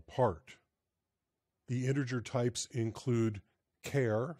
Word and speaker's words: char: the integer types include care CH a r i pronounce it care different some people say Char int short int long